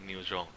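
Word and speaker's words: nyob zoo: the other one is I think it's pronounced as neojo which is the Hmong way to say hello pronounced like new Zhong so this is just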